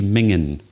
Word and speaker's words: minging: would you spell it well it's actually minging but this is another scottish system that miss out the final g m-i-n-g-i-n-g but we would actually say mingan something that's very bad